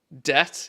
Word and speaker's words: debt: Debt. Yeah, there's another one. Where did the B come from? Who slapped a B in there?